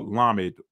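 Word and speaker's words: למד: The ship had a Hebrew symbol for Lamed. Okay. That's the modern Hebrew pronunciation of the La or the staff.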